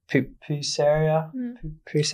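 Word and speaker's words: pupusería: I mean, we seek out the places that do to support them, you know, like the pupuseria, how do you say it?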